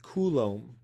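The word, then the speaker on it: coulomb: So instead, we make up the idea of the Kulom.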